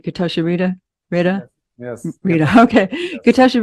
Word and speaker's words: Getachew Reda: Getachew Reda has, did I pronounce that right? Getachew Reda?